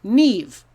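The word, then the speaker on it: Niamh: a name in english if you see this name it's nev so trust your ears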